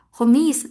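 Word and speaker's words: خميس: Khomis. Nah, yang tadinya khomsah jadinya khomis gitu ya.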